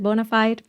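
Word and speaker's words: bona fide: super humans who are Bona is how you pronounce it Bonafide Bonafide superhumans they're out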